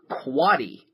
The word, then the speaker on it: quotty: What is quatty? QUOTTY, pronounced quatty.